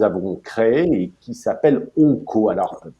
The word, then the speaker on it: ONCO: Ces travaux sont initiés par l'UC2M et par le nouveau groupe thématique que nous avons créé et qui s'appelle ONCO. Alors, prononcé O-NCO.